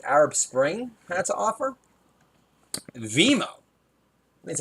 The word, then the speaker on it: Vimeo: Vimeo. That's how you pronounce it.